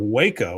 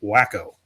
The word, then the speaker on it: Waco: Uh, Arty says, "The first time I heard of Waco was on One Day at a Time, and the joke was that Schneider pronounced it wacko."